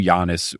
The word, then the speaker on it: Giannis: So they do Giannis Yahniss for Giannis, and then they do Antetokounmpo AH, and then they have dashes.